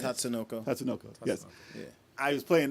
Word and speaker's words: Tatsunoko: Tatsunoko.